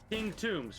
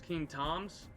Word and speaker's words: King Tombs: pronouncing my name correctly king tombs 456 uh a lot of people a lot of people call me tom's king toms i can kinda get it but has no one ever spelled tombstone yeah i do my